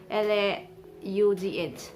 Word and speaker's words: laugh: Instead of GH, GH sounds as F, so we pronounce it as cough. L-A-U-G-H, laugh.